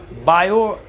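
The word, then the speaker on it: Biot: बायो अलग है। हालांकि इनकी स्पेलिंग में टी भी है। बायोट है और सेवर्ट है।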